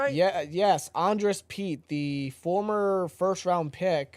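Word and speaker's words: Andrus Peat: Andress Pete. Am I saying that right? Yeah. Yes. Andress Pete, the former first round pick for the Saints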